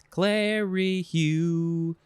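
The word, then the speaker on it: clerihew: just going to say clary hugh it rhymes with pew pew pew pew pew all right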